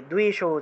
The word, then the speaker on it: দেবী: ধূম্র নেত্র বধে দেবী, দেবী, দীর্ঘ ইকার, একটু টান দিবেন, দীর্ঘ রূপে ইকারটা উচ্চারণ হবে, দেবী।